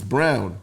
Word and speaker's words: Braun: It's spelled His name spelled Braun, but it's Brown.